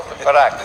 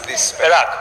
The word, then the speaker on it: Perak: Perak. Perak. It's spelled Perak.